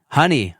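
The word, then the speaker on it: Hunny: I believe it's Honey, I think. Honey. Yeah. Okay. With H-U-N-N-I.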